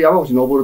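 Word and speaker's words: 山口昇: それで山口昇って読むんですけど。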